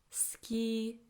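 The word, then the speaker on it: 好き: and running 12 like ski ski ski I know that we write sui but when we say it we say ski ski it's as if the U the disappears okay this is not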